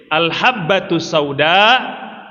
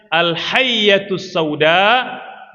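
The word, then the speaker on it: الحبة السوداء: Tapi dibaca oleh orang yang tidak berguru, salah bacanya. Harusnya dibaca dengan ba, dibaca dengan ya. Katanya al-hayyatus sauda dawaun likulli da. Itu beda titik, beda arti Bapak Ibu.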